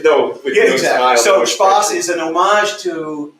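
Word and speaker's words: Spaß: So Spass, that's the German Esset character. So it's actually a lowercase character. It's like a funny B. We've all seen it somewhere, but impossible to pronounce. People pronounce it 15 different things, but that Spass is the German word for fun.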